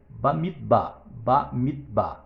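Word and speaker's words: במדבר: Porque a palavra números em hebraico, números é Bamidbar. Bamidbar significa no deserto. Quando eu quero pronunciar livro de Números em hebraico, eu falo da seguinte forma: Sefer Bamidbar.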